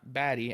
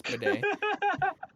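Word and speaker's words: Badie: Tyler Bidet, not Batty as it looks like it's pronounced, it's Bidet.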